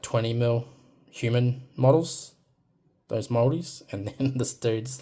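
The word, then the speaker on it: Māori: Um, so some people pronounce Maraui, but the proper pronunciation is Moldi.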